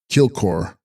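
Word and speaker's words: dkyil-'khor: Text jil pronounced kilkor Sanskrit mandala i.e the conclave of deities.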